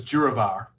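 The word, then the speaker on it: DURAVR: that question so um you pronounce it as juravar okay the other question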